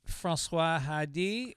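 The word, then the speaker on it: Françoise Hardy: How would you pronounce those songs? Francois Hardy.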